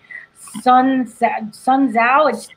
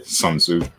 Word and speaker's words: Tzu: Yeah, the opportunity creates chaos creates opportunity is actually an old general saying by Sun Tzu. I mispronounced that.